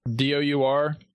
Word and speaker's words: dour: D-O-U-R? Hang on. Yeah. I did. I got it wrong. It's dour, not dour.